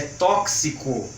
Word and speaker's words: tóxico: o Tom Chico tóxico Mas a forma correta da pronúncia desta palavra é tóxico assim como gelo flexico crucifixo cor crucifixo desculpe crucifixo e outras palavras que tem esse som de cs tudo bem Olá tudo